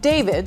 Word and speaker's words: d4vd: The car, which was a Tesla, that belonged to a singer and Queens native who goes by the name David, spelled with A for period.